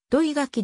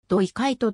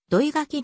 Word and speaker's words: 土井垣: 快晴なお生の読みは土井垣ではなく正しくは樋開斗と読むというがなかなか正しく読んでもらえずそのまま土井垣で等したという